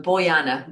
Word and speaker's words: Bojana: Because Bojana is awesome. How do you say your name? I want to say it properly. Okay. J is his Y, so Boyana, boy and Anna.